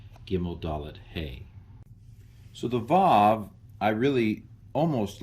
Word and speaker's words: Vav: Vav. It used to be pronounced wow.